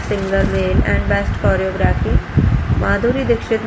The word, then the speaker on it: Madhuri Dixit: Madhuri Dixit, name pronounced Madhuri Dixit, born 15 May 1967, is an Indian actress, producer and television personality.